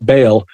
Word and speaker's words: Baal: the activities of of ball Baal I only say it that way so Scholars know that I know that that's how you're supposed to pronounce it anyway in that hula